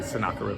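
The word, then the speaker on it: Sennacherib: sometimes s a sherff but it's basically sonakar is a better way to pronounce it uh king of Assyria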